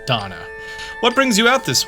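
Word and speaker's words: Dohna: of the Garuda Warriors I don't know why you have to have extra letters in your name is just pronounced Donna what brings you out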